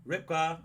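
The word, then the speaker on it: רבקה: Ribkah, that's how you say it.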